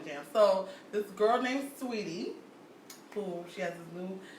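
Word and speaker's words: Saweetie: Her name is Sweetie with an A. Yeah. So That's sweaty. but she pronounced it Sweetie.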